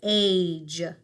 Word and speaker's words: aged: my next turn alright so remember the GE says jump and then this is just a short a I'm sorry this is a long a because this is a magic e magic e and that says jump alright ready so ready sign up ready go okay you should have said aged aged so when I ask